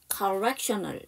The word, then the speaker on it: correctional: 여러분 여기 제가 수업 중에 잘못 얘기했는데 여기서 A가 또 묵음이에요. 느리예요. correctional 이렇게 해주셔야 됩니다.